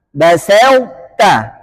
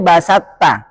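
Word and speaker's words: بسطت: Basauta. Kemudian to nggak boleh diidghamkan dengan idgham kamil secara sempurna ke huruf ta. Dia harus ada sifat yang disisakan. Sifat apa? Itbaq. Bacanya basauta. Nggak boleh basatta.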